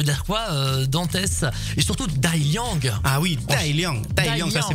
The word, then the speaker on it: Dai Liang: disais ça veut dire quoi Dantes et surtout d'alliang ah oui Thaïlande ça c'est mon nom chinois bah tu prononces très bien c'est ça c'est ça veut